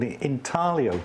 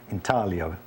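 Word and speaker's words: intaglio: hold the ink and it's called intio printing it's that lovely Italian word with a soft G in talo which means roughly incision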